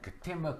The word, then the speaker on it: Katembo: Let me pronounce it properly. Katembo.